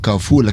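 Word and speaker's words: Carrefour: There's one I'm told it's pronounced kafu.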